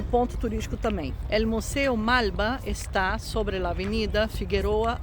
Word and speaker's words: Malba: El Museu Malba está sobre a Avenida Figueroa Alcorta. Olha que interessante. Primeira pronúncia, né? A coisa do L. Malba, Alcorta.